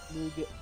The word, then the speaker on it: nougat: in it, along with nugget, like the marshmallow thing. Nugget. This nugget. Nougat. It's spelled nougat? Something like that? Nougat? Yeah, nougat. Yeah, nougat. Instead of nugget.